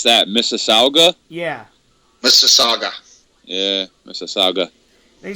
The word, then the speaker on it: Mississauga: How do you pronounce that? Mississauga? Yeah. Mississauga.